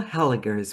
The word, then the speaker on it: Hellegers: I have got Hela's with me today. Is that Am I pronouncing it correctly? That's right. It's a hard G.